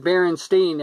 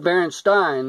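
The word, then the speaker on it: Berenstain: I remember that cuz I said barenstein and my dad he said well it spelled like Baron Stein my dad's passed away now a long time but Baron Stein and he said it should like Frankenstein and I said no it's barenstein that's the what it was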